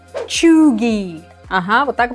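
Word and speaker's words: cheugy: Глядя на это слово произносится оно как чуги Ага вот так произносится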